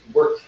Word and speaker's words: wort: It's not wart like a wart you get on your skin. It's wort. Wort. Like you spell it with an E, but it's spelled with an O.